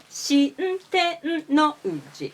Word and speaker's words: 新天王寺: Shintennouji is the correct pronunciation.